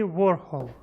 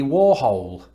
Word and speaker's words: Warhol: a play about andy warhol andy warhol andy warhol so there's a slight difference there in the sort of last vowel yeah i put hole in his name there's no e ah now this is